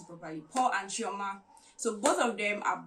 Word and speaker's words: Chioma: There's this particular couple, Paul and Chioma, let me pronounce it properly, Paul and Chioma.